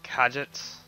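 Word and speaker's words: Katjaa: also Kenny's wife has a very interesting name kajet that's how you pronounce it she's a vet that earns points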